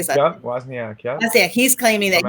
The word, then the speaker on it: Wozniak: Yeah, Wozniak.